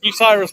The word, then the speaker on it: Bucyrus: This is Bucyrus, guys.